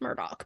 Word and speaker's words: Murdaugh: I'm like ooh ouch no it's pronounced Murdoch but it doesn't make any sense but it is so